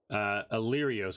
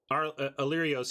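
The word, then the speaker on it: Alirios: Illyrios. Oh, I've been saying that wrong, I think. Illyrios. Did I spell that?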